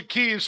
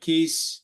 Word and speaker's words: Kees: sounds good so um my name is Cas as you were pronouncing it quite correctly thank you for that Ron it took me a while I called you keys for a while I